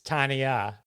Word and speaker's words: Tonya: Your audience will understand the hesitation was the way you're talking about name pronunciation. Right, it's Tonya.